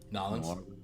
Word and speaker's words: New Orleans: But yeah, Nolans is how you say it.